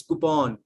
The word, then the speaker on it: coupon: next is no no it's not coupon it's coupon coupon coup okay guys ball give